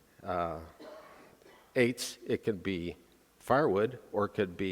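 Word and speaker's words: עץ: tree the way it's pronounced in Hebrew is Eights and it is spelled e-t-z or e-t-z or ATZ either one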